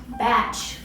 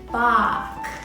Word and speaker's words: Bach: composer of all time ah batch great to see you my name is pronounced bach yeah whatever listen buddy